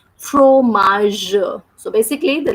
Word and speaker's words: fromage: The sound of GE is J. That's why we are reading this word like fromage.